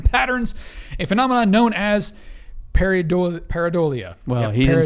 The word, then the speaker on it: pareidolia: images and random patterns a phenomenon known as pareidolia well he did say it right the first